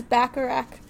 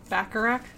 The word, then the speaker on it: Bacharach: I think it's Bacharach. Bacharach?